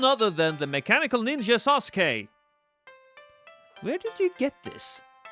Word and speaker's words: Sasuke: That's how you say it, like, it's not Sasuke, it's Sasuke. What Benkei pulled out was all stiff with batteries almost falling out.